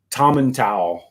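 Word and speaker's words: Tomintoul: You got the pronunciation of that right, although there are some serious Scots who say Tomentowel, but that's not common.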